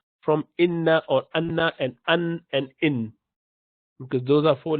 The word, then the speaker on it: أنا: Okay, so it's ana. You do not pronounce that alif. You do not say ana. You say ana, half prolongation for both.